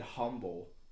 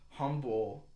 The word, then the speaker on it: humble: us because we said humble and he said that and this is a substitute teacher for English and only English humble the H is silent so is humble and